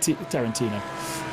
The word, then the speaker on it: Tarantino: of talking to myself trying to work out if I was pronouncing like it's not the same as the Director is it yes okay it is yeah EXA that's exactly what